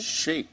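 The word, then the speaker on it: Shaikh: Former jihadist turned counter-terror expert Mubin Shekai, am I pronouncing that correctly? Sheikh, I think.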